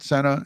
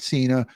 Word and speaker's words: Sena: about Charlotte uh Senna Charlotte Senna not Cena and I think Cena's uh spelled with a c John Cena is a c-e-n-a but Charlotte Senna nine